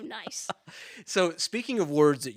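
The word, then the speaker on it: gneiss: of okay and so niceoid is basically gne iss and then oid at the end there so relating to nice so speaking of words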